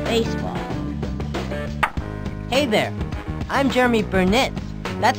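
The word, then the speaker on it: Burnitz: Hey there, I'm Jeromy Burnett. That's spelled B-U-R-N-I-T-Z.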